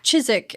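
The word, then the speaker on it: Chiswick: Oh, it also rhymes with the filming location. Oh, it does. Oh, Chisik and Kzik.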